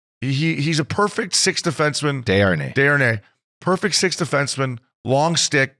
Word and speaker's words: Desharnais: Vincent Darnars. He's pretty good, man. He's a perfect sixth defenseman. Desharnais.